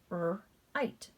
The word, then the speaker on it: write: Let's look at our silent W in our WR combination. I'm going to cross that out and sound it out. Right.